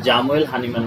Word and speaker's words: Samuel Hahnemann: হোমিওপ্যাথির জনক doctor সামুয়েল হানিম্যান German উচ্চারণে যেটাকে জামুয়েল হানিম্যান বলা হয় এবং তিনি 1755 সালের 10ই এপ্রিল জার্মানির সাকসনি রাজ্যের ড্রেসডেন শহরের নিকটে মিশনে জন্মগ্রহণ করেন।